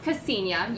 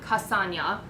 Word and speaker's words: Ksenia: interesting is it interesting so okay so it's pronounced Ksenia you've gotten Castagna many other many other versions it's pretty hilarious